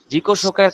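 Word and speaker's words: 自己紹介: এরপরে খেয়াল করেন উচ্চারণটা, খেয়াল করেন জিকো শোকাই। এই যে জিকো শোকাই, জিকো শোকাই, এটা হচ্ছে অ্যাকচুয়াল উচ্চারণ।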